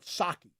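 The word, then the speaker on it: Psaki: of my listeners that jin saki you pronounce it saki like like the japanese uh liquor sake hopefully i'm saying that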